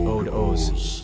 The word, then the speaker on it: Od oz: Odd Oz, pronounced Ode Oz, I see, or I, pronounced Ahe, I am.